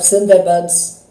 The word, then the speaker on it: Sundarban: This is of Sundarbans, pronounced Sundarban in Bengali, addressing you live on this Christmas Day, the 25th of December of the Gregorian year 2022.